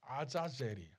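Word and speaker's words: עזאזל: 합성을 브리 그래서 아사 히브리식 발음이 뭐냐면 아자젤이 그런데 아즈는 소고 아은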